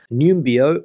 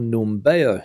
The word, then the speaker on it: Numbeo: is this one here numbio or numbero depending on how you want to pronounce it so let's get cracking